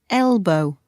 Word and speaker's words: elbow: can bend your arm your elbow stress on the first syllable elbow she pushed me with